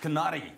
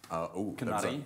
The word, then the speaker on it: Kanari: Kanari. Longer E sound.